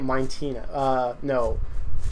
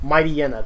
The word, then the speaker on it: Mightyena: I used to say it Mintina. Mightyena. That's what I called him for the longest time before I actually looked at how his name was actually spelled.